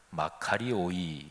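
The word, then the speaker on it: μακάριοι: 그 는 사람 이제 복수로 복 있는 사람들 그러면 마카리 오이 이렇게 발음합니다 우리 교회 교회 음악학교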